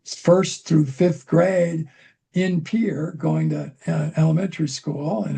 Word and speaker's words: Pierre: which, by the way, everybody don't pronounce it as Pierre, it's Pierre if you're local.